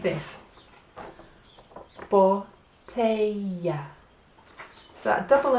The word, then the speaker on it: botella: En español, if you get a double L, that makes a y sound. So the word for bottle, if we got on here, look, is botella.